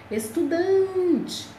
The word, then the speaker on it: estudante: tônica expe a penúltima estudante a sílaba tônica é dan então essas palavras são